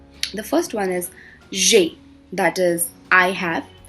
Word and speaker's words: j'ai: The first one is j'ai, that is I have. Here it's actually je, a, but we club it because e and a comes consecutively.